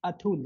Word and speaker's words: Atul: it's Atul. Yeah, Yeah. Atul. Yeah, Mm-hmm. Atul. So I'm pronouncing it right.